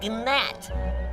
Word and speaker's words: gnat: me you are a gnat it's a g silent it's Nat are you calling me